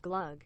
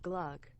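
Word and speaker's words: glögg: It's pronounced glug, not glug.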